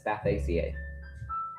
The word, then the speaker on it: Spathacea: No, it's not a Spathica. It's Spathaceae. Oh, that's what it's supposed to be, though.